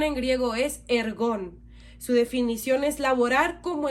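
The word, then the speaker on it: ἔργον: Su pronunciación en griego es ergón.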